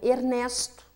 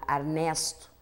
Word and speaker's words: Ernesto: próprio nome do anfitrião Ernesto que é pronunciado arnesto aqui não é uma questão de pronúncia regional como coração dos paulistas e coração dos baianos mas sim de pronunciar erradamente o nome de uma pessoa trocando letras outras questões fonológicas podem